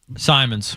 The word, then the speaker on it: Simons: Scaz, how do I pronounce this guy's name again? Simons.